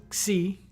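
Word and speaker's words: psi: voiceless consonant cluster IPA its name is pronounced C in modern Greek and generally uh in the system of Greek numerals it has a value of 60.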